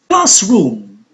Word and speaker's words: classroom: Classroom, a two-syllable noun, so the stress is on the first part, since classroom is a compound noun.